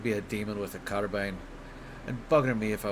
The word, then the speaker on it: carbine: Is it carbine or carbine? I feel like carbine is right, but I also feel like I'm probably mispronouncing it. Proper pronunciation of... It's carbine. God damn it. Carbine. Damn it. It doesn't feel like it should be bean. It feels like it should be bine.